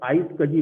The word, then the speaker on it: iSCSI: तो आइस आइस कजी इज एन, आइस कजी बोलते हैं इसको बेसिकली, आइस कजी, ठीक है ना, प्रोनाउंसिएट इसका आइस कजी है।